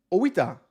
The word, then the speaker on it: Oita: Robert says, "Actually, Oita is pronounced with a separate O and I." Oita.